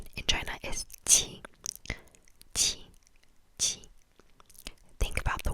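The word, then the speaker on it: 七: Think about the word cheese, but instead of ch, you make the ch, ch. So make it behind your teeth instead of ch, like towards your teeth. Make it slightly behind. Qi, qi, and it's spelled Q, I, Q, I.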